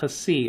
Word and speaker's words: Xi: That's how you say it. Xi, like K-S, Xi, and that's spelled out X-I.